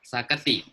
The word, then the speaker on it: Saketi: Mang Nidu kalau salah pengucapannya mohon diingatkan. Benar ya, Saketi. Ya, Saketi Malingping.